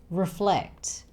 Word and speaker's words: reflect: Reflect. Flect is the stress syllable here. So it's reflect, not reflect.